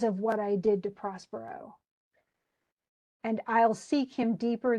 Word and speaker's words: Prospero: pronounced the name of Prospero he says Prosper but that's just so it fits in the in the The Poetry it did base my